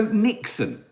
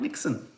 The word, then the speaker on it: niksen: is I'm afraid um so Nixon not like Nixon how would you say that in a Dutch because it's a Dutch word not the American president Nixon say it say it like you would say Doc Nixon is anyone Dutch here so basically I tried Nixon Nixon it is Nixon Do you know how